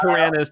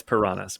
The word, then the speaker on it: piranhas: And I did say piranhas to kind of rhyme with pajamas, but anyway, I know it's piranhas.